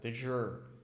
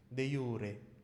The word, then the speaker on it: de jure: I don't even mind de jure, or some people pronounce it de jure, right? But it's in classical Latin, it's supposed to be de jure.